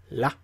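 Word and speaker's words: ら: Instead, they use the L sound, so it's la, li, lu, le, lo.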